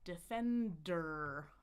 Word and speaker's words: defender: Defender.